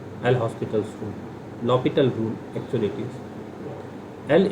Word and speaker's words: L'Hospital: अच्छा, हम ये बार बार एल हॉस्पिटल रूल, एक्चुअली इसका जो प्रोनाउंसिएशन है कई बार एल लॉपिटल rule, लॉपिटल rule, हम इंडियन कंटेक्स्ट में